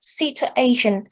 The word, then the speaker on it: situation: We have the word situation. So situation. The pattern is strong, weak, strong, weak.